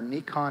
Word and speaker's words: Nikon: i quickly upgraded to a nikon fm or nikon fm as it's properly pronounced i've been a nikon guy nikon guy